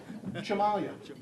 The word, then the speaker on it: Cimaglia: So, we've been mispronouncing your name all this time. What is it? Jock dust. What? Chamalia. Jamalia.